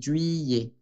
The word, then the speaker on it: juillet: Julio se dice juillet. Ye, como fille.